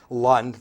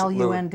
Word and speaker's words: Lund: Lund, the boat, but they pronounce it L-U-N-D, Lund.